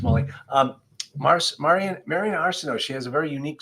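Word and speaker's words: Arsenault: l t is how and it would be pronounced Arsenal um so that's really cool I like that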